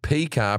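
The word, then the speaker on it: PYCA: signature battery soft p y c a that's pronounced p car pro tri blend t it's a bold new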